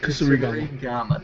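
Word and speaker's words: kusarigama: Kasurigama.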